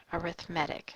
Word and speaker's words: arithmetic: four this would be an example of an arithmetic sequence and notice how I pronounce that this is spelled arithmetic but since it is an adjective it's describing the type of sequence it's pronounced arithmetic so you pronounce it differently since it's an